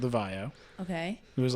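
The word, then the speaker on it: VAIO: used to have a laptop line called the Vio.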